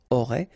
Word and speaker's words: auraient: Ils auraient, remember, E-N-T, you don't pronounce it, auraient, ils auraient, elles auraient.